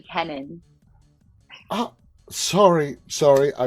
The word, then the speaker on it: Kennon: uh Lynch and Keenan welcome guys how are you all doing tonight great thanks for having us yeah it is my also my last name is actually kenon sorry sorry I butchered